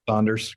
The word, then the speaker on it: Saunders: me Chad great and I I got the pronunciation of your last name right there that is correct Saunders great um and just before we get started